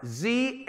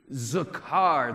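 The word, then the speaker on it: זכר: under the atom column write the word zakar z-a-k-a-r zakar guys say this word with me one two three zakar there's something there's something masculine about that that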